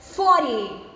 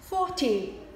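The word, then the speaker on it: forty: Observe que na segunda pronúncia, o T desta palavra é pronunciado com som de T mesmo. 40. Já na pronúncia 1, nós temos o T desta palavra pronunciado com som de R. 40. Um R chamado de R-tep, porque ao ser pronunciado, a pontinha da sua língua toca rapidamente o céu da sua boca.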